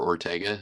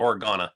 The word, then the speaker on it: Organa: One of the characters I do like, and we haven't covered him, is the Senator Ortega. Is that right? How do you say that? Organa.